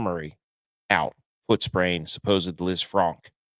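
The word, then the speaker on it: Lisfranc: Supposed Liz Franc if you want to say it correctly.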